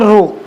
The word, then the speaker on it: rho: इसे बोलते क्या है, जो इसका प्रोनाउंसिएशन है उसे बोलते हैं रो। क्या बोलते हैं, रो, RHO, रो।